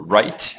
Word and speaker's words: right: So if you remember some words like wrong with a silent W, or right with a silent G, light, silent G.